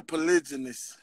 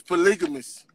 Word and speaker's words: polygamous: Okay, you said it right that time, but before you said polygamous, you didn't say it right the first time. No, I know I said polygynous. Polygynous. I don't think that's how you pronounce it. It's polygamous. Polygamous.